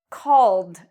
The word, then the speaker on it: called: Call ends in the L sound. So when we pronounce call, we pronounce ed like a D. Called.